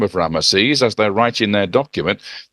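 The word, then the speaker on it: Ramesses: you about a few PS so the name ramases is actually ramashish that's how it was heard and how it was how it pronounced okay now it just so happens like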